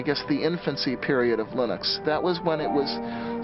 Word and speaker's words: Linux: lonus and I really don't care how people pronounce my name but Linux is always Linux he developed a kernel and